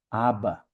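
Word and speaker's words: ἀββα: A palavra aba é equivale ao nosso abba, é o alfa, beta, beta, alfa, aba, que é pai em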